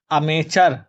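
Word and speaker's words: amateur: अमेचर ये अमेचर पर आ जाएगा बच्चों। तो टी साइलेंट है। ठीक है?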